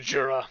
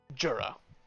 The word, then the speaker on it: Djura: And he gets you to this fortification, shoves you both inside, and says, "Talk to Jura.